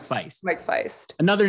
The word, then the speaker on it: Faist: name and i said oh like heist and he's like oh